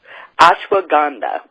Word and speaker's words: ashwagandha: to mispronounce it so I'll just start the a schwa gah dah gah or how do you pronounce that Susan uh-huh move the tongue one time - maganda ashwagandha Brut okay so explain that a little bit